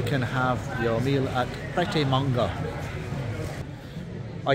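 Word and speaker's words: Prêt A Manger: and whilst you're waiting you can have your meal at practice manga or if you want to say it properly by team RGA because it's French welcome to the United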